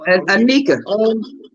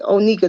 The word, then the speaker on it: Onika: Anika. Anika. Yeah, I know I messed that baby name up. Let me see. What? That name I call her Onika. Onika, that's how you say it.